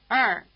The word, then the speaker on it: 二: You can hear something very like Chinese ER in the proverb, to err is human.